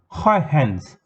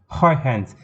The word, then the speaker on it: Huygens: Huygens. Huygens. That's how you pronounce this spelling, the name of the scientist.